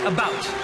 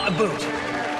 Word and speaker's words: about: French not American and I pronounce it about not a boot I can proudly s